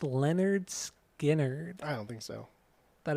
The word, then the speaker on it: Lynyrd Skynyrd: so my number two is the first record pronounced Leonard skinnard I don't think so that is my number